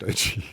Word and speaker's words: Doechii: I know it's pronounced Doechii. Doechii, like Yochi, rhymes with Yochi.